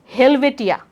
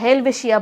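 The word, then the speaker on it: Helvetia: এখানে লেখা আছে হেলভেটিয়া বা হেলভেশিয়া বলি আমরা। তাহলে কি হবে? এটা হবে এই যে এটা হেলভেশিয়া বা হেলভেটিয়া, যেটা উচ্চারণ করো না কেন।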